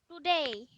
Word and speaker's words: today: Today. টুডে ডি এর উপরে জোর করে বলো, ডি এর উপরে জোর দাও, বলো টুডে বলো।